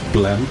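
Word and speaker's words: BLAME!: I don't know if I understand from some in the community that it's pronounced Blem, as in the sound of the gun. But it's Blame, isn't it?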